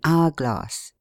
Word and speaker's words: hourglass: A becomes an before a vowel and before an h which is not sounded, as an exquisite, an hourglass. But if the h be pronounced, the a only is used, as a homicide, a homeopathist, a hum.